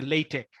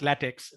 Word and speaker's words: LaTeX: So again, I'll refer to this, that, yeah, we pronounce LaTeX. Yeah, we say LaTeX, not latex, LaTeX.